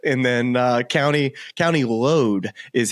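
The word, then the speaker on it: Louth: look at it and then uh County County load is how they the caddies pronounce it to me but I was count pronouncing it loath so there's there's an Irish version an American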